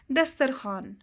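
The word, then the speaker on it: دسترخوان: वो वाव जो लिखने में तो आता है लेकिन पढ़ने में नहीं आता, जैसे दस्तरखान, ख्वाब, दरख्वास्त।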